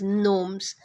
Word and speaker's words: gnomes: as knights then gnomes g-n-o-m-e is pronounced as gnomes we'll see the meanings